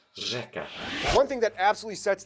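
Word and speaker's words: řeka: It's pronounced differently. You don't see here Ersheka. This means river, by the way. Instead, it's pronounced Rzeka.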